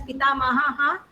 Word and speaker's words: पितामहः: Mahaha, you have to read it as Pita Mahaha, Mata Mahaha. Okay, Visarga.